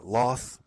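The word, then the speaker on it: Lolth: Now, so okay, so they're, as I said, they're a sacred animal to Loth or Loth, depending on your pronunciation.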